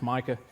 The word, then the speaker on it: Micah: wrong cuz they always they can't pronounce Micah um I got ma Michelle um there's no L's in it like you you